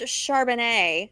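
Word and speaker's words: Charbonnet: yeah exactly so um it's pronounced Chardonnay not uh not unlike the glass of chardonnay that I have here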